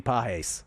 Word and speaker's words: Pages: Andy Pahes steps to the plate. Always remember Jason Weineard. Dude, I was just going to bring it up. Just going to bring up He loves himself some Andy Pahes.